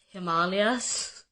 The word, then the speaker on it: Himalayas: Like ashwagandha and Himalayas, it's Himalayas, and it's ashwagandha.